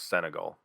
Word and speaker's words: Senegal: So then we get Tasha Steelz versus Jamie, I think it was Senegal. That's how she pronounces it.